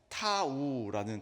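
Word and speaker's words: תו: 그런데이 표시라는 말을 원어 히브리어로 보면은 타우라는 단어가 사용이 됩니다. 타우라는 단어는 앞에 이제 티귿 발음으로 시작이 되잖아요.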